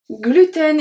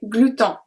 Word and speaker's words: gluten: Gluten is one of the words that we do not follow the rules of French pronunciation because technically we should say gluten. Gluten, because EN make the sound en. However, we say gluten, N, gluten.